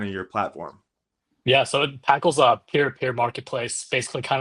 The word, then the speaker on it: Paql: And then fast forward like 4 more months, you release what is it, Paql? Is that how you yep, pronounce it? Paql. Yep, Yeah. Paql. So it's a mix of paddle and racket.